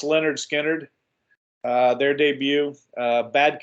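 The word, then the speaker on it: Lynyrd Skynyrd: but uh great album pronounced Leonard Skynyrd uh their debut uh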